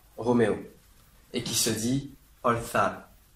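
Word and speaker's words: orzar: La traduction maintenant en espagnol, qui s'écrit Oscar, Roméo, Zulu, Alpha, Roméo, et qui se dit Olthal. Olthal.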